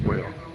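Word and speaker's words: Wahl: It's wh a hl, but it's pronounced whale. Yeah, it's pronounced whale.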